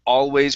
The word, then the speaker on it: always: up and touch the top of your mouth with the l if you don't do that then it sounds wallways it sounds like a whoa okay so this is why it's important to always pronounce the l properly